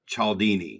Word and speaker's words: Cialdini: influence the psychology of persuasion by robert cieldi chaldini is how you say his name it's really